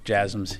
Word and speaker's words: JASSMs: The last question, yes, JASSMs. Yeah, you're pronouncing it correctly.